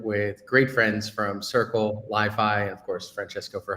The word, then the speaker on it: LI.FI: I'm the head of developer experience and developer relations at Li.FI. Well, technically it's pronounced Li.FI, but everyone knows us as Li.FI.